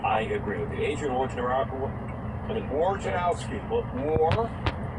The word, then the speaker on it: Wojnarowski: Wojnarowski?